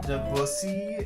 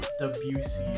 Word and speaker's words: Deucey: Imagine being revived and you name it's mispronounced as deusy and not deucey as it is. Deucey. That's how you say it's deucey.